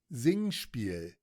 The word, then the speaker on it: Singspiel: Because if it's German, it's Singspiel. Let's see. Or I guess if it's starting with an S, it'd be Singspiel. No, it's Zing. I was right. I'm nasty with it. Singspiel. Singspiel. That's what I thought.